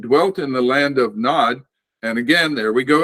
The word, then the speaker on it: Nod: The word would be shall we say, it'd be better to transliterate it N-O-D with a long O in it. Nod.